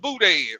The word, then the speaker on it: boudin: stuff down there called boudin. I was saying it wrong when I first got down there. I would call it booty. Give me some of that booty. It's called boudin.